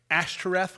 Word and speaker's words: Ashtoreth: It's just not real, but Ashtoreth, which is Ishtar, which is also known by several other names, but that was the goddess that they worshipped that confused.